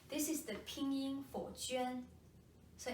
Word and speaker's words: Juān: Let's take a look at the pronunciation. This is the Pinyin for Juān.